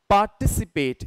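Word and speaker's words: participate: चलेगी then next is पार्टिसिपेट इसमें हमें स्ट्रेस देना होता है टी आईसी पे पार्टिसिपेट यू हैव टू से टसप पेट पार्टिसिपेट राइट एक शब्द है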